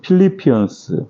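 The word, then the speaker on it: Philippians: 이러한 뜻을 가지고 있습니다 영어로는 필리피언스 필리피언스 이렇게 발음을 합니다 우리말로는 빌립보라고 하는 그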